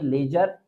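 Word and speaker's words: ledger: Next देखें एल इ डी जी ई आर इस यहां भी डी जी एक साथ है तो डी को साइलेंट रखेंगे। ये लेजर इसी इसी तरह ये हो जाएगा नॉलेज।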